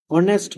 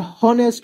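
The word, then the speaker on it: honest: যখন আমরা অনেস্ট বলি তখন কিন্তু আমরা হনেস্ট বলি না।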